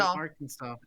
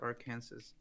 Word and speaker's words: Arkansas: arkansas art arkan pronunciation arkansas as having the final s be silent as it would be in french a lot of dispute